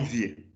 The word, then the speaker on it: vieux: Et ils sont vieux. E es de pronom tonique. Vimos ayer. X on ne prononce pas. E ou phonétique es E.